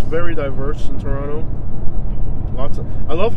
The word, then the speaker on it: Toronto: It's pronounced Toronto. Mm-hmm. Okay, you have to emphasize the toe. Toronto.